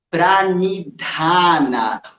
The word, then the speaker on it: Pranidhana: Então, em vez de falar ni com a língua nos dentes da frente, experimenta falar ni enrolando a língua lá para trás. Pranidhana.